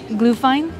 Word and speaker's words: Glühwein: it's pronounced Glühwein. It's very hot, though, right now. But it is very good. All right, I'm going to give this Glühwein.